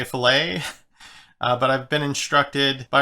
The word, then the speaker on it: fillet: be wanting to say filet but i've been instructed by a reliable source that fill it is the engineering way to pronounce the word and filet is the cooking way so i don't know